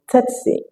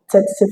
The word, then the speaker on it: tsetse: You can either pronounce this word as tsetse, as in tsetse fly, or you pronounce it as setse, which of course is applicable to this concept.